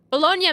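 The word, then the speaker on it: Bologna: later Andreas until then the correct pronunciation is bolog bolognia makes sense yeah experts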